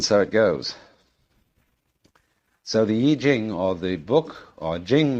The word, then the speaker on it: I Ching: the Book of Changes, called the Yi Jing, not the Wai Ching.